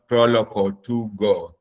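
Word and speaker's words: Proloquo2Go: So the most common one is called Proloco 2Go. I'll spell that.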